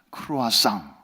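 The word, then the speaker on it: croissant: 라는 뜻인데 이게 이제 황 스 식으로 발음하면 크루아상 이렇게 돼서 이게 오늘날 이제 유럽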